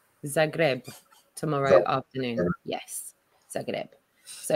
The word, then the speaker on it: Zagreb: Zagreb. Zagreb tomorrow afternoon.